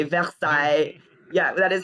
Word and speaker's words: Versailles: called North Versailles which you know we say Versailles yeah that is how it's pronounced which is how you say Versailles in